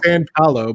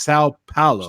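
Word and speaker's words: São Paulo: Yeah, I always say San Paulo, but it's not San. It's Sao Paulo, right?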